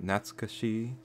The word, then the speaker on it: Natsukashii: so welcome to gnats Kashi I butchered that pronunciation probably not sketchy done there yeah that's pretty correct and today we're gonna